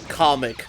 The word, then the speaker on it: Kamek: Who's this, and what have you done with Kamek? Yeah, it's a different Magic Koopa this time. I'm sorry, Comic, as Nintendo wants to say his name is.